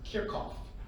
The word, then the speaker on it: Kirchhoff: Grimm, my physics teacher in Friend, he said it's actually pronounced Kirchhoff, because he's a German physics teacher.